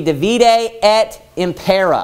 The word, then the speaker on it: divide et impera: And the Latin phrase is, it's divide, I guess it would be divide et impera, I guess is how you would pronounce it with the Latin pronunciation.